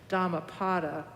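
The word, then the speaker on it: Dhammapada: collection of sayings the Buddha's sayings called the dhamapata that's spelled d-h-a-m-m-a p a d a or Dharma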